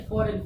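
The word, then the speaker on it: foreign: ठीक, यानी इसका उच्चारण कर रहे हैं, जी का उच्चारण इसमें हो नहीं रहा, जी का प्रोनाउंसिएशन नहीं हो रहा, यानी फॉरेन।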